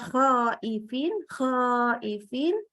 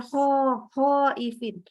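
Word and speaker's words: خائفين: keempat yang sering yaitu baca huruf k ya tapi dari maksudnya Tengah tenggorokan jadi kayak huruf H contohnya harusnya khoifin dibaca hoho Ipin nah ini nggak boleh saking seringnya salah orang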